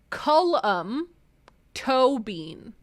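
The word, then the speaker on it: Colm Tóibín: Comtobin is pronounced Cullum Tobin. Cullum Tobin. That's good to know. I can remember that because toe beans.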